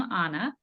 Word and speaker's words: Anna: reading my name but I pronounced my name Anna no problem and the